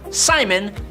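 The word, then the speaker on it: Psimon: All of that, but he basically just calls himself Simon, but cool because there's a silent P in front of it, so we all know that he has psychic powers.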